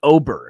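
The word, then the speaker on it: Åberg: I think it's Oberg. Oberg. That's who I got. There's an A, but I think it's pronounced as O.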